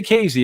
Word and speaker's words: Casey: ever put up look up casey they say casey it's spelled casey c-a-s-e-y it's right off i-70 not